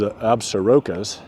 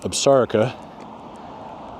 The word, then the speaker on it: Absaroka: Despite the power lines there, you can see the Absarica Mountains there. A lot of people make the mistake, including myself when I first got here, referring to them as Absarokas, but it's pronounced Absarica, and it has a relation to somehow to